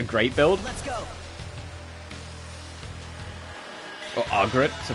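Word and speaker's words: Agrat: Or Argret, to pronounce her name properly.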